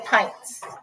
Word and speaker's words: pints: Okay, pints. That's how you pronounce it, pints.